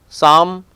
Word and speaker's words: psalm: Pneumonia, P is silent over here. Petrodactyl, psalm.